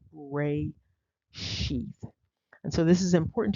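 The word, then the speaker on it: רֵאשִׁית: a feminine noun and the pronunciation is R sheath and so this is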